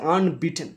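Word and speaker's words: unbeaten: এবার দেখো এই যে আনবিটেন না, এই শব্দটা ইউ দিয়ে শুরু হয়েছে, তো শব্দটা উচ্চারণটা হচ্ছে আনবিটেন, মানে ইউ এর উচ্চারণ যদি ইউ এর মতো হয় এ বসে, আর ইউ এর উচ্চারণ মতো ইয়ের মতো হয়নি তাই অ্যান বসবে। অ্যান আনবিটেন 127 127 রান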